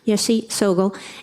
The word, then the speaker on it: Yeshe Tsogyal: I always mispronounce that, thank you, Yeshe Tsogyal.